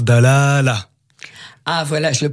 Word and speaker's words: Dalâla: pour cette question pourquoi l'accent circonflexe ça veut dire qu'il faut allonger la voyelle oui donc on prononce d'al ala a voilà je le prononce